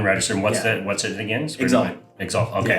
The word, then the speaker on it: Xalt: Exalt. Exalt. Okay. How do you spell it?